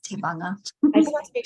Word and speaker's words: Tevaga: Tevaga. So the G is like a NG somewhere. I know it looks like Tevaga, like some kind of Latin name, but it's Tevaga.